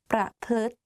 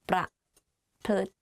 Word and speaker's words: ประพฤติ: So the correct way of pronouncing this is ทฤษฎี ประพฤติ behave ประพฤติ behave. Let's practice again. ประพฤติ pra and then plut like L sound within the word. So it's like pra, plut.